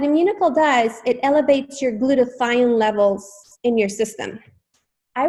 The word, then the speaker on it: glutathione: why is glutathione and I thought it was being mispronounced and they were like no glutathione and so I was like